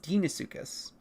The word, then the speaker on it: Deinosuchus: And then things like Deinosuchus is pronounced Deinosuchus.